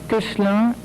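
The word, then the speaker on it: Koechlin: Although you don't pronounce it right, but you're right. Kuchlan and Mugier.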